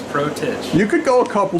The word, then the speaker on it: Protich: do you pronounce it protege protege okay we're right just like it sounds protege you could go a